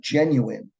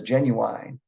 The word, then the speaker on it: genuine: Words like genuine, sometimes this is mispronounced as genuine. People will probably get your meaning, but they might make some associations with you that might not be true about you.